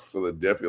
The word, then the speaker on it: Philadelphia: That's so crazy because like I could never hear somebody try to pronounce Philadelphia like P, P, like because we all know it's gonna be like an F sound.